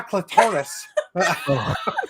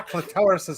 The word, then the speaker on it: clitoris: Mispronounce? It's my clitoris. How does she say it though? Hold on, I tried It's to on write fire. it down phonetically. My clitoris is on fire.